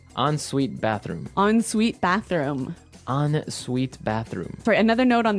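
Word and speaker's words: en suite: UI t e so even though it's e n we pronounce it like an o n yep on sweet so an on Suite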